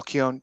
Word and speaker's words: Keown: But I mean, again, growing up in the '90s, McFarlane, Dale Keown. Did I pronounce that last name right? Keown?